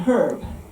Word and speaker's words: herb: fancy in Latin but it wasn't until the 19th century so 400 years later that anyone started pronouncing the H in herb in England by this time the